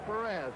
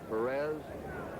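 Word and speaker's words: Pérez: We anglicize his name. That's the way they call it in Cincinnati, his hometown, and most of the announcers, Perez. Perez is the Spanish pronunciation.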